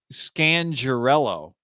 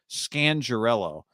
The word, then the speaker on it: Scangarello: of uh rich scan scandarello i found out we've been saying it wrong this whole time that's gangarella scangirello uh he was on the